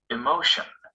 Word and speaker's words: emotion: before the shun celebration the stress stays on this syllable even if we add another ending after the shun emotion emotional the word shown in